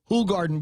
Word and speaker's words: Hoegaarden: Hoegaarden beer. Incidentally, that's how it's pronounced.